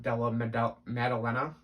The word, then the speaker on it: Della Maddalena: Jack Della Maddalena, I believe is how it's pronounced, over Pete Rodriguez.